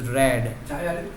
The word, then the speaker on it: read: last passage with read, actually it is not read, it is read. So when it comes to past form of the verb, we should pronounce is that the spelling does not change, but we must pronounce it as read, not read.